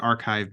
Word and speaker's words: arXiv: using a site called archive which is spelled arxiv and it's pronounced archive because of the x is actually a Greek letter Chi and so yeah they're